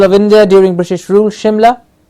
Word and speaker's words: Shimla: India during British rule Shimla as h-i-m la Shimla an island nation and